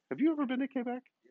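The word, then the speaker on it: Québec: you ever been to quebec quebec it's uh pronounced k back on full set so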